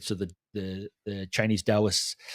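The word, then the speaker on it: Taoists: So the the the Chinese Dowists spelled T AO is pronounced like a D. So the Dowists, right, they're really into flow and energy and all this kind of stuff.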